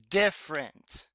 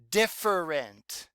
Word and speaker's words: different: look at the ER it says different is that how we say it no not usually I think we've gotten kind of lazy with this word and we say it like it's only two syllables different so you have to remember when you ride it when you spell it and read it it's different even though we say different okay let's sky right